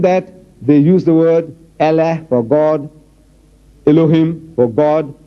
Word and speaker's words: Allah: I said, no man, how you spell, but you must pronounce the way we are asking you to pronounce our language. It is not Allah, it's Allah. Try. Allah, not Allah.